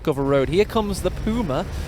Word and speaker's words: Puma: Here comes the Puma. We are Brits, but we do pronounce it that way because it is a German armoured car, and that's only right. It's only fair.